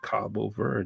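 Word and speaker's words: Cabo Verde: It's Cabo ver.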